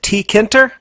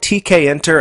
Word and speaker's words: Tkinter: to pronounce this framework is it tkinter I call it tkin and I think that's pretty much the standard way to refer to this